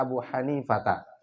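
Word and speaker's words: أبو حنيفةَ: Berkata Imam Abu Hanifah, bacanya begini ya, faqala Abu Hanifata. Jadi itu majrur karena dia mudhaf ilaih. Tapi dia tanda majrurnya itu dengan fathah.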